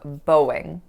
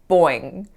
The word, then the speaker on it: Boeing: I was growing up, I really felt that this word should be pronounced something like boing, boing, or something of that sort, like something like the sound that a bouncing ball makes.